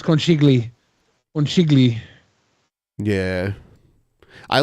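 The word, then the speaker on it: Conchiglie: Conchiglione? Something like that. That might be right. That sounds about right. It's not Conchiglione. It's not Oni though, because it's Lie.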